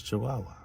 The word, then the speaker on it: Chihuahua: the Chihuahua is this Chihuahua, which lets you know that the Wah is the Wah, is the Wah. The HUA is Wah, because it's just Chihuahua, but it's HUA. So that's the pronunciation, Wah.